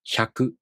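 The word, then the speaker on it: ひゃく: This is pronounced hyaku, right?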